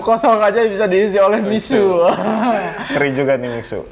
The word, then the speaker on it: Mixue: aja bisa diisi oleh miss you ngeri juga nih bacanya bukan Mitsu ya tapi miss you dari bisnis muda